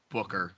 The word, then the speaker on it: Booker: He's like, Booker, like books. Yeah, I mean, that's what it stands for. It literally just means books in German.